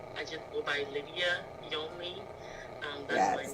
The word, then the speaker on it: Lydia Yonly: Hi everyone, I'm Lydia Yonly. I just go by Lydia Yonly. That's my name. That's how you pronounce it.